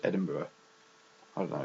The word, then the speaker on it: Edinburgh: okay um and there Edinburgh which is very very strange because it's spelled completely differently it doesn't have a burrow in it at all so it's just Edinburgh I don't know it's